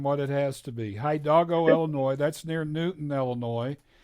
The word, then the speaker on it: Hidalgo: Hi Doggo. Hi, and then Doggo. Hidalgo. I made Yeah. it harder than what it has to be. Hidalgo, Illinois.